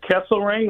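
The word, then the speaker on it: Kesselring: Um and Kessle Ring, is that how you say it?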